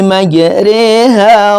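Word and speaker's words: مَجْرٰىهَا: Waqarabu fiha bismillahi majriha wa mursaha. Garibnya itu tadi rnya bukan ro tapi re.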